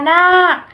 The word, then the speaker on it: นาค: คำ เชื้อ โรค อ่าน ว่า เชื้อ โรค พญา นาค อ่าน ว่า พญา นาค คำ ทั้ง 2 คำ นี้ สะกด ด้วย ค ควาย แต่ จะ ออก เสียง